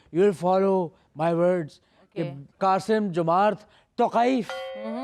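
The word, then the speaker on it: Қасым-Жомарт Тоқаев: قاسم جمارت توقائف. توقائف تو ہے قے ہے بے.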